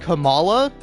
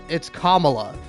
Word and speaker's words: Kamala: about like politics and Kamala Harris is that, like, when she's talking about Kamala, she says Kamala, and like D'Angelo is like, it's Kamala, it's Kamala, and like I think